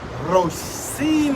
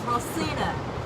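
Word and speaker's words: Rocinha: You know, there are several, like I said, there are several favelas, but how do you pronounce the one? Ricona? How do you say that? Ricon? Rosina. Rosina. Yes, Rosina.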